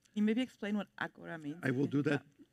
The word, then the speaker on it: agora: That is pronounced agora, which means now.